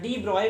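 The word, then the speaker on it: de Broglie: अब मैटर में कैसे वेव नेचर होता है उसकी जानकारी हमें डी ब्रॉगली, scientist डी ब्रॉगली, this Louis Victor डी ब्रॉगली या डी ब्रॉय भी प्रोनाउंस करते हैं इसको, डी ब्रॉय थ्योरी से हम उसको समझ सकते हैं।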